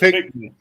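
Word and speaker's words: Pinckneyville: Pickneyville. It's pronounced Pickney.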